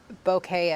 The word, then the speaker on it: bokeh: phone model and then B-O-K-E-H, and that might give you ideas on how to get that effect. It's a bokeh effect. People, you'll hear it said pronounced bokeh as well.